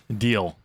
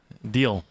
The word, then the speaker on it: Dio: And they meet up with Deal. Dio. And so I'm just calling him Deal.